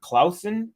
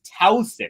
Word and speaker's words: Tauson: he's just saying Covey you're just uh reading it incorrectly it's Towson it's Clara Towson and I keep saying Klaus and you're right I was